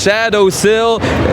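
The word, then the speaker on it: Shadosil: It is Shadow Sil. S H A D O S I L. Just how just how it is spelled like that.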